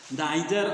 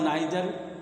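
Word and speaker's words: neither: तो आइर नादर इस इसका जो उच्चारण दो होता है जैसे ब्रिटिश इंग्लिश में आइर बोला जाता आदर नादर अब अमेरिकन में इदर नीदर बोला जाता है र नीदर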